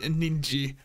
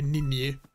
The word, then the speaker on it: Ninji: because i don't say ninji i say nini and i don't say jeans i say because in swedish you don't have a hard like d sound